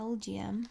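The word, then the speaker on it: Elgyem: But LGM is supposed to be pronounced like LGM.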